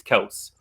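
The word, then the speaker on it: Kelce: i can't touch travis kelsey i love you travis and i'm sorry you know we got to pronounce his name correctly it's celts travis kels but kelsey sounds yeah yeah those are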